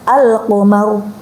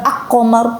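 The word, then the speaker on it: القمر: Contohnya al-qamar, al-qamar dibaca jelas, bukan ak-qamar, bukan.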